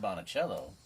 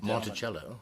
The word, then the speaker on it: Monticello: So I called Monticello, and talked to the gentleman- Monticello. Monticello.